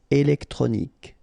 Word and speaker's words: électronique: Électronique. Okay, so as we saw previously, Q-U-E at the end, K. Okay, électronique.